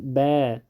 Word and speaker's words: با: بعضی خلک بی وایی بی او بعضی خلک با الف با تا یا الف ب ت بالکل غلط دیده. با دقیق تلفظ با.